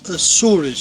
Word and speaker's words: Açores: In Portuguese, we pronounce Açores with the C. cedilla as well underneath.